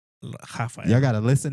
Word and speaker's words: Rafael: How do you say that in Spanish? Raphael. Raphael. Raphael. Raphael. He say Puerto Rican. Rafael.